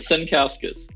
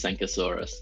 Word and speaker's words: Sankauskas: right yes you did Senus you great luckily it's it's pronounced exactly how it's written okay what's what's the